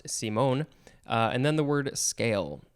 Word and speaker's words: Simon: o n simone uh it looks like simon but it's pronounced simone and then the word